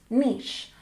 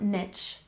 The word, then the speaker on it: niche: I know this word is spelled a little funky for an English word, but remember it's pronounced niche, not niche. Niche.